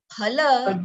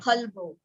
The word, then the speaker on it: phala: In Sanskrit, it is PH. Okay, Okay. ha. Okay. So, Iha Mutrartha Phala, not phalvo.